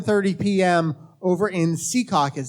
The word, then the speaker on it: Secaucus: 30 p.m over in Secaucus that's how you're supposed to pronounce it right I believe it's Secaucus as opposed to Secaucus people are very particular about that there were eight hey